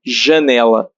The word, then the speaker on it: janela: So we spell or pronounce the J as the same as S in measure. Measure. So that would be janela.